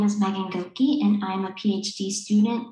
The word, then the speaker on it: Goeke: analysis stepped analysis across three similar contexts megan goka which i probably butchered the name apologies about that from the department of educational psychology hello my name is megan gokey and i'm a phd student in the department